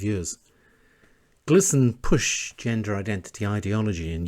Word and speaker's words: GLSEN: GLSEN, pronounced GLSEN, is the gay, lesbian, straight educational network in the United States which works in schools.